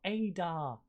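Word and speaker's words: Haydar: ali's got space oh adar heydar even manages to make the save i'm pretty sure i said ada silent h you see here in turkey silent h as you can see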